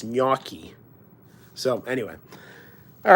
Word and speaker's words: gnocchi: to pronounce gnocchi um he was saying ganaki which is not right it's Miyaki so anyway all right